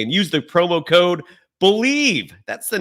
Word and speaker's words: Bleav: Head to the website today and use the promo code BELIEVE. That's the name of the program. BLEAV is how you spell it, and get in on the action.